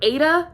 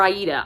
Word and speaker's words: Aida: it follows calum and it's either ada or aida i've heard it pronounced both it is a-i-d-a so however you pronounce it i i pronounced it while i was reading it aida in my head so that's how i